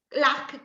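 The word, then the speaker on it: lagh: Lac con una C. Invece lago è L-A-G-H, lag. Lag, ok. Anche se noi poi lo pronunciamo lac.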